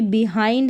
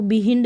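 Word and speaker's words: behind: जैसे कि बिहाइंड है, इसको बिहिंड नहीं पढ़ेंगे, बिहाइंड, mild, child, grind, ब्लाइंड, फाइंड।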